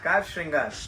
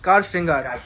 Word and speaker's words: Car Shringar: store and एज I pronounce रंग सो the pronounce is कार कार श्रृंगार कार श्रृंगार okay so I will keep that right there